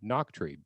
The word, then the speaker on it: Nachtrieb: joined today by a very special guest noctree did i say it right this time that's